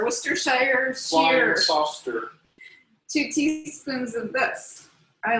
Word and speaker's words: Worcestershire: and then next ingredient sam is pronounced uh washer for sure where's shawsheer worcestershire two teaspoons of this